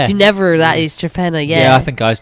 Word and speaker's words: Torpenhow: spelled like Torpenhow. Torpenhow, that's it, yeah. But do never, that is Trepenna, yeah.